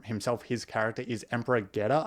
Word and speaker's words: Geta: his character is Emperor geta I believe is how you would pronounce it and then his brother